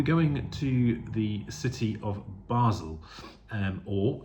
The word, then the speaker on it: Basel: of Basel um or if you want to put in the French speaking Bal but given that the majority speakers in uh in Basel are German speaking I will stick with the German pronunciation of it and it will be